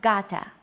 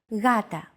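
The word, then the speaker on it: γάτα: This is usually romanized with an initial G letter, but it is not pronounced gata. The first consonant is softer, gata.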